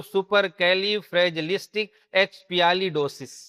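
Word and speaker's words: supercalifragilisticexpialidocious: अब इसको डिवाइड कर देते हैं। यह हो गया सुपर। यह हो गया कैली। यह हो गया फ्रेजलिस्टिक यह है एक्सपीशियली और यह है डोसिस डोस बोलो या डोसिस बोलो पूरा मिलाओगे तो सुपर कैली फ्रेजलिस्टिक एक्सपियाली डोसिस क्लियर है क्या अच्छा अब इसकी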